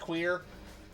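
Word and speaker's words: cuir: That one's pushing it cuz cuz in French leather is c u I r pronounced queer.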